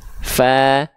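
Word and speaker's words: ف: nih Nah di situ huruf dilafalkan ujung gigi cari atas kita kita sentkan dengan bawah bagian dalam bawah kita Fa haah fi fu F Nah jadi ilustrasi gambarnya seperti ini ya oke pelafalannya seperti ini Fa fi fu ya Oke teman-teman kita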